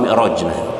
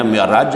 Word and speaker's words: Mi'raj: selanjutnya tentang Isra Wal Mi'raj jadi Bistro Hai Isra Mi'raj dibacanya Mi'raj ada juga yang baca Isra Wal Mi'raj Isra Miraj Isra Mi'raj merupakan salah